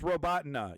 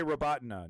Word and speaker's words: Robotyne: No one says it correctly. We have one. Okay, it's Robotyne. You can just say Robotyne.